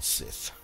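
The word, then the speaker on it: scythe: Sith or size down how you pronounce it actually I'm going sis okay I think it's probably sighs because it's SC why th e so anyway either way um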